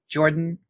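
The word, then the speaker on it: Jorphdan: I have only heard of a couple of these from Jordan, PH is silent, on YouTube, one of my favorite lore tubers.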